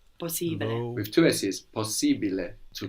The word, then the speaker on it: possibile: We are actually pronouncing both of these S's. Possibile.